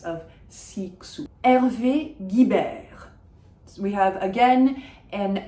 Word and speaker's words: Guibert: And the GU that I mentioned, it's not Guibert, it's not Guibert, it is Guibert if you're speaking with an English accent, because that GU just makes it a hard G sound.